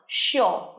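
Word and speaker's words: sure: শিওর নয়, শিওর। শিওর, রটা উচ্চারণ করবে না।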